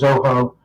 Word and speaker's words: Zoho: And first of all, I couldn't pronounce it because it sounded like Soho, but it's really Zoho.